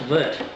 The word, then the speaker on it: wort: Yes, it's a German word for those who aren't aware. It's W-O-R-T is pronounced vert. Not even wort, it's vert. But we aren't German, and in English it says wort.